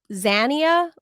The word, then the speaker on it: Xania: but I think it's Zania Monae. Correct. X A X A N I A Zia. Xania. Not Zania. Like Xanax.